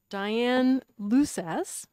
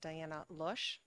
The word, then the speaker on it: Diane Lusas: Just for the record, it's pronounced Diana Lush. I know, it doesn't look it.